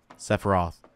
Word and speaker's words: Sephiroth: Sephiroth. Is it Sephiroth or Sephiroth? Is it like a silent P like in Sapphire?